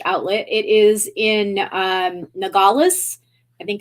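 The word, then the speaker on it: Nogales: the Buffalo Exchange Outlet it is in um nagalas I think it's how it's pronounced in Arizona it's right on the border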